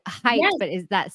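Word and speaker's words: Haidt: I know he said Heights but is that spelled like um it's actually spelled h-a-i-d-t oh okay pronounced height but yeah it looks like hide it h-a-i-d-t Jonathan height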